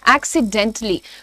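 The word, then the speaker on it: accidentally: एक्सीडेंटली होता है। एक्सीडेंटली। तो टी के बाद एक हल्का पॉज है। ए का साउंड नहीं है पर पॉज जरूर है।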